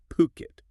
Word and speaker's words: Phuket: And let's get the pronunciation right up front. It's Phuket. Phuket, got it.